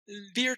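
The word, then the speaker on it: Byre: Beer Tour. Oh! Okay. Yes. Not spelled beer, it's spelled B-Y-R-E. I know, but going by sound.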